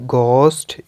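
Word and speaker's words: ghost: आ जाता है कि द लेटर एच साइलेंट होगा व्हेन इट कम्स आफ्टर जी यानी जी के बाद एच आता है तो एच साइलेंट होगा such as इन the word गोस्ट या एक और रूल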